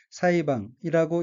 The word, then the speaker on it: 裁判: 다음 어휘는 한자가 한국어로 재판이고 일본어로는 사이방이라고 읽으며 사이방은 재판이란 뜻의 명사 또는 수루타동사입니다.